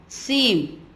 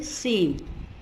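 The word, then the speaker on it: Sejm: Second one CanSat, third एडिस्कोंटा, fourth रिक्सटैग, 5 Cortés generals and 6 सीम. J silent होता है, इसको आप प्रोनाउंस करेंगे सीम. नाउ मैच द कॉलम में देखिए आप.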